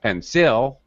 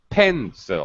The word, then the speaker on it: pencil: this is a pencil first syllable stress not pencil wrong pencil you pencil thank you very much